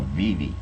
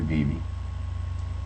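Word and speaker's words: Vevay: then we moved to a little town called Viv v v a y why uh those that are not from around there pronounce it VI uh but it's actually bie and I went there my Junior and Senior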